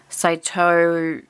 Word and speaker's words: Sato: mitzi sato wild and last name is pronounced saito say toe view saito view oh there